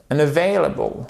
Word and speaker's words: unavailable: Unavailable. Ok? Unavailable. Accent tonique juste ici.